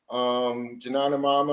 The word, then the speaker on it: Janana Mama: Janana Mama, I'm probably pronouncing that wrong. No, that's perfectly correct. Uh-huh. That's correct.